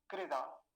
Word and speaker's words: कृदा: दूसरा शब्द देखिए, कृदा, कृदा। अब क्रदा नहीं बोलेंगे, ये क्या है?